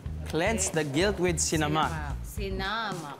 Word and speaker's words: sinamak: the guilt with camac sinamak sinamak second syllable sinamak It's sinamak sinamak may sasabihin pa ba